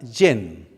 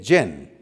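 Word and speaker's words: חן: La primera palabra es la palabra yen. Así se puede pronunciar, J-E-N, yen.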